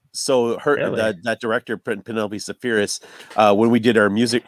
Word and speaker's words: Spheeris: Now the director, Penelope, how do you pronounce Spheeris. Your last name? Spheeris.